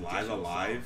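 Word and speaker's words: Live A Live: That That's game is pronounced Live Alive. Songs. I've always called it, like, Live Alive.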